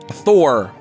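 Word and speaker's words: Þ: of the temple priest how do you say this letter? It looks like a D and a P, but... Thor. It makes like a... Oh, so that is Thor. Okay, great. That's Thor.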